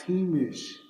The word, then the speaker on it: Jemez: And Jemez is just another word for this other word is it's pronounced Hemish.